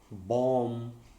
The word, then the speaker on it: bomb: Okay, but in some words it is silent. For example, comb, climb, bomb. When B happens or B comes after M, such as thumb, and then when T